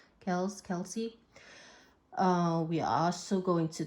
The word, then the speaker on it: Kelce: We're going to talk about Taylor Swift and Travis Kelce. Is that how you pronounce it? Kelsey.